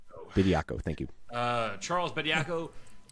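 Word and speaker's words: Bediako: Bidako.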